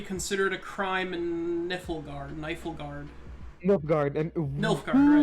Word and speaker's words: Nilfgaard: It's pronounced Nilfgaard.